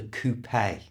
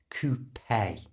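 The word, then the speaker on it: coupé: There are different types of sports car, and this one is called a coupe. That word is taken from the French, so we pronounce the E at the end as an A. Coupe.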